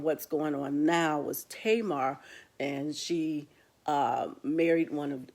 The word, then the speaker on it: Tamar: also see five main women you will see tamar and some people might say tamara but it's tamar pronounced tamar which i learned up so tamar